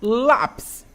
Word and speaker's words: lápis: Lápis. Vamos lá. Lápis, eu separo. Lápis, né? Penúltima sílaba é uma paroxítona, terminada em quê? Em I ou IS, vai receber o nosso acento, tá bom?